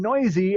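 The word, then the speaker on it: Neuse: You picked up Sheldon Noisy, and yes, that is how you pronounce his last name.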